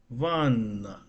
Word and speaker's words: Ванна: So banana in Russian is pronounced like what? It's actually is oh sorry vana sorry bat. It's not banana. Okay, Ванна. vanna. Oh right. Vanna. So it's like you separate the syllables.